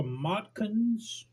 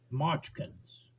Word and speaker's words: Motkins: It's a Motkins. I think it's something. No, it's pronounced Mochkins. Yeah, Mochkins XXL.